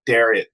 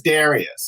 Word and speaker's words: Darius: How many times have we mentioned Darius? He says Darius. I'm used to saying Darius. Yeah, right. Darius. We'll use the Persian native pronunciation.